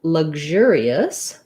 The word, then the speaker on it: luxurious: some more details so for luxurious the stress is on the ger syllable the first syllable has vowel schwa sounds like la and then this x says the g z sound luxur actually the g j sound so sometimes i write